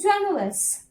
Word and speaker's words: generous: The man is always generous. Generous. You have to stress on this part. Generous. You have to stress on this part. G-E.